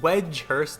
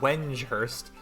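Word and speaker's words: Wedgehurst: differently every single time I only recently found out that it's called wedge Hurst not when Hurst I swear there's an N in there but apparently there's not might have already mentioned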